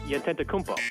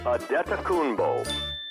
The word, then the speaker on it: Antetokounmpo: It's phonetically pronounced Antetokounmpo. Only to be corrected by Bucks announcer Ted Davis. Ted Davis, the Bucks play-by-play guy. It is Giannis Antetokounmpo. Bull, not ho.